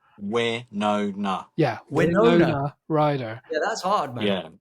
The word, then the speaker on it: Winona Ryder: Winona Ryder. Winona. Yeah, Winona. Winona Ryder.